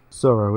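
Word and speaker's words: Tsuro: Sorrow, yeah. How do you spell that? It's T-S-U-R-O. It sounded like a silent T, and then I was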